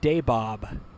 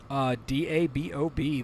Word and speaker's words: Dabob: turn right around right around the town of Daybob. I didn't know that was a town. I didn't know anybody named anything Daybob. Okay. Spelled like it sounds? DABOB, the very same.